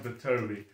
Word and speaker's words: Btobi: I think it's pronounced Btobi. It's B-T-O-B-I.